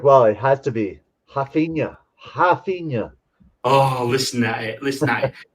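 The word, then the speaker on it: Raphinha: it has to be hafina oh listen at it listen we need this ringtone so so the in in um in portuguese in brazil the r is pronounced like an h right and i mean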